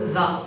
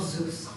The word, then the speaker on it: thus: watch watching yeah uh the word uh thus is pronounced thus not Zeus yeah but yeah thinkful